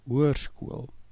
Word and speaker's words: hoërskool: As you can see the E of hoërskool, there are two dots. These dots are called a deelteken. They indicate that a new syllable starts. Notice therefore the pronunciation. Hoërskool, hoërskool. You don't pronounce the O and E together.